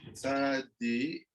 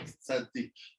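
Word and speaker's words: צדי: Okay, the Rabbi Akiva, Tzadi, it's called Tzadi, not Tzadik. Tzadi.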